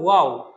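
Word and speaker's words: واو: ওয়াও হরফটা 2 ঠোঁট গোল করে, 2 ঠোঁট গোল করে খুব মজা করে, খুব সহজে আমরা বলবো ওয়াও, ওয়াও। বলুন আমার সাথে, ওয়াও। 2 ঠোঁট গোল করে আমরা উচ্চারণ করব, ওয়াও।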